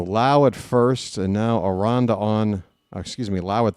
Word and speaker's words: Aranda: Aronda, I always say Aranda. Aronda. Aronda rhymes with Jane Fonda.